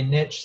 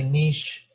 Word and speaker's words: niche: lives and niche and you'll hear this pronounced different ways even by scientists some people say niche some say niche i sometimes will say